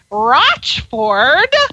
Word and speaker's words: Rochford: Her name is Sam, and it is pronounced Rochford. Sam Rochford.